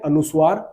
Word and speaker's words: अनुस्वार: बोलते हैं अनुस्वार और इसको बोलते हैं विसर्ग बात समझ में आई